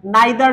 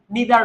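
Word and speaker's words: neither: তাহলে ইদার অর অথবা কি, আচ্ছা নাইদার নর, আমি নাইদার নর বলতে অভ্যস্ত, সো আমি নাইদার নরই বলবো, তুমি চাইলে নিদার নর বলতে পারো।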